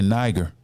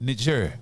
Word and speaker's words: Niger: Some people say Niger, but it's pronounced Niger in Africa.